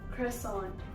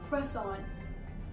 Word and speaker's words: croissant: Just to give you guys a comparison, in American English you say it as croissant. Croissant. Whereas in British English you say it as croissant. Croissant. Now, croissant is a French item and its name was obviously derived from France. So the British pronunciation is closer to the French pronunciation.